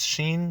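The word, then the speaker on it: 震: of these two characters if you guessed sheen then you'd be correct the dragon component in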